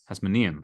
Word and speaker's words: Hasmonean: Hasmonean? Hasmonean. Okay. The Chashmonaim is in Hebrew. I don't know. The emphasis on the knee.